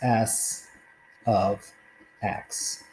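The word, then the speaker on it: s(x): The way you pronounce this is S of X.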